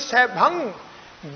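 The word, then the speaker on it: ਸੈਭੰ: फिर इहदा उच्चारण अगे करो जी, सह भंग, इहदा उच्चारण इदा करना जी, सह ससे उत्ते दुलावा, फिर अगे जी भब्बा, भब्बा प्लस कर दो अगे, ऐड़ा ऐड़े उत्ते टिप्पी गग्गा, इहनू पढ़ो जी सह भंग। गग्गा पूर्ण उच्चारण नहीं होएगा, यह नासकी उच्चारण होना जी।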